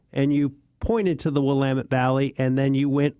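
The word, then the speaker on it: Willamette: They're really small towns, but it's the Wamut Valley. And often times people mispronounce the Wamtt Valley um calling it Willilamett but because it looks like that when you you know spelled out but it's the Wamut Valley and it is one of maybe the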